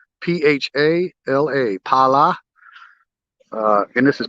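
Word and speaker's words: Phala: And this is a sub-district called Pala, PH, but the H is silent, P-H-A-L-A, Pala. And this is Pala Beach.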